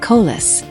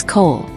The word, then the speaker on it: Cole: He deliberately mispronounced the name, making it sound like Colas. Elias ignored the slight, his posture a study and calm. "My apologies, Your Honor. The name is Cole.